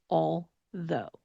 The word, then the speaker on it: although: If you're watching on YouTube, you can definitely see my tongue did not come between my teeth on the AL part because it is a dark L, not a light L or a clear L sound. But it did come between my teeth when I made the TH sound for though.